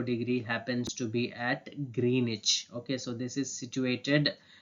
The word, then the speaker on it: Greenwich: this is not green which it is not pronounced as green which it is Greenwich okay that's the way you pronounce uh Greenwich in the year 1884 uh Greenwich Mean Time